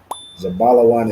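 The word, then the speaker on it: זבולון: Zabalawan is Zebulon in the Hebrew.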